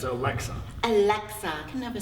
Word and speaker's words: Aleska: Did I get it right? It's Alexa.